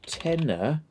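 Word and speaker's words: Tena: I'm sure there's a thing called a tenner pants. Yeah, it's for incontinence. Tenner, but it's spelled with T-E-N-A, not T-E-N-N-A.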